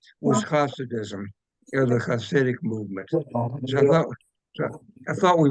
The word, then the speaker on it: Hasid: It's Hasid, but the H is spelled like a gutter, like a H.